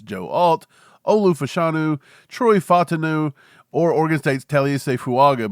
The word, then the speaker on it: Fautanu: Fautanu from Washington, Fautanu, I think is how he pronounces it. I keep saying Fontano, but it's Fautanu from Washington.